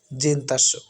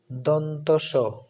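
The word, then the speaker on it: দন্ত্য স: এখন যে বর্ণটি আমরা দেখতে পাচ্ছি সেটা হচ্ছে জিন্তাস্য যেটা প্রচলিত বাংলায় আমরা জিন্নতাস্য উচ্চারণ করি কিন্তু সঠিক উচ্চারণটি হচ্ছে দন্তস দন্তমূলীয় বর্ণ এই কারণে এটাকে দন্তস বলা হয়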